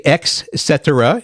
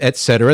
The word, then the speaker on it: etc: am keep going uh we have people that say EXC instead of Etc that's a big one